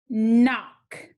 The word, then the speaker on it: knock: letter digraph k n cross out the k the o is short it needs a brevi and c k digraph cross out the c this word is knock looking at our final